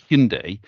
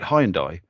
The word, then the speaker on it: Hyundai: it in the UK where you say Hyundai in the UK everyone called it highendai.